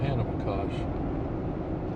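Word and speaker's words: Ohanapecosh: That's the way the locals, that's how they pronounce it, Old Hanapakosh.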